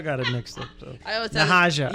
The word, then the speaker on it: Nahaja: Nahaja. Yeah, there you go. Just use it. It's just one special 3 syllables. You just you gotta lift it up.